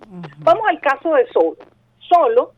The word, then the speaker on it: solo: Solo es una palabra grave, tiene 2 sílabas, solo, ¿verdad? ¿Dónde tiene la fuerza de voz? En la penúltima sílaba, es decir, pero es una palabra grave, pero termina en vocal.